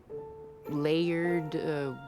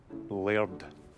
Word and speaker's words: Laird: It was a gift from the Laird of Glenrothy to the people in the village. He donates one every year. Does this layered, whatever that is, not like the villagers?